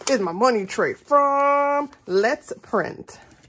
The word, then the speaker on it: Let's Print: I have to say it like that because it's so funny to hear people who haven't heard me actually say the name of her shop. Everyone wants to call it Letty's, but it's Let's.